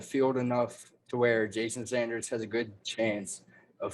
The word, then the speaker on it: Sanders: side of the field enough to where jason sanders has a good chance of finishing number one again respect it like some jason sanders this year i'll finish this off i started off by saying jason saunders yeah i pronounce it i pronounced it twice